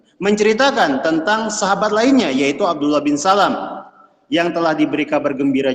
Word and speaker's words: Abdullah bin Salam: Sebagian kita keliru membaca nama ayahnya. Ada yang membacanya Abdullah bin Salam. Ini keliru. Yang betul adalah Abdullah bin Salam.